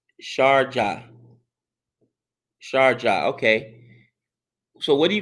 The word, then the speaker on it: Sharjah: Pant's name is pronounced Punt. Punt. Okay, punt. Punt. Got it. Punt. It's Sharjah. Sharjah.